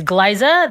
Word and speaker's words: Glaiza: My name is Glaiza. That's a hard G, and Liza, like Liza Minnelli.